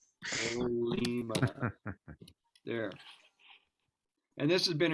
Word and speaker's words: Colima: Oh, take the N at the end. Not Coleman. Colima.